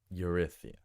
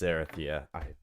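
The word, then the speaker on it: Erytheia: It might be Erythia, not Eurythia. Let's find out. Ugh. Erythea. Erythia. Erythea. Yeah, Erythia. Great. Erythea. Erythea. It is Erythia. I had a feeling. So it's more like Erithia.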